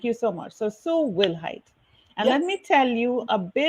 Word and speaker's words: Wilhite: so i want you to help me pronounce your surname yes my last name is will height i knew it we'll have problems with it